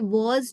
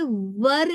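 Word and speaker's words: were: यूज होता है और इसे वर नहीं कहते, वेर नहीं कहते। इसका करेक्ट प्रोनाउंसिएशन है व, मतलब इसमें आर का साउंड नहीं है, इट्स व।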